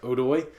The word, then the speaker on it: Odoi: Oh, it's spelled Odoi, but you have to pronounce it Odoi. Okay, Odoi.